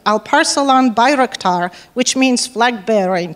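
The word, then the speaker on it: Alparslan Bayraktar: one of the few people who can probably pronounce his name right al parcel on birektar which means flag bearer in turkish and he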